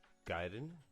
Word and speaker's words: Gaëtan: My name is Gaëtan, as it's pronounced properly in French.